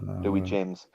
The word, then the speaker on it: Louis: You know, Louis James, Not Lewis. never Lewis.